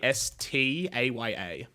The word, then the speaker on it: Vastaya: Vastaya.